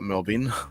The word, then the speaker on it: Melbourne: like to call it we just call it melbin because we're lazy Melbourne melbin melbour melb but yeah obviously pronouncing it correctly mbor um that's only about